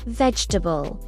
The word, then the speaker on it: vegetable: This word is vegetable. Vegetable. It's often shortened to three syllables.